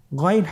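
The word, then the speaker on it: غين: উচ্চারণ করা যাবে না যেহেতু হরফটি মোটা এজন্য মোটা করে উচ্চারণ করতে হবে মাশাল্লাহ আলহামদুলিল্লাহ আমরা আজকের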